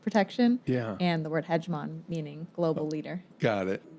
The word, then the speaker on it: Hedgemon: The hegemon is, am I pronouncing that correctly?